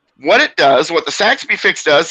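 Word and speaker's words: Saxbe fix: what does the rabbit say oh it's the Saxby fix s-a-x-b-e if you want to look it up s-a-x-b-e some people spell it with a Wyoming but it's actually technically with an E Saxby fix is named after a person they did it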